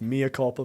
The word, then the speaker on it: mea culpa: I mean, it's very weird that you guys keep mispronouncing that word. It's mea culpa, but go ahead.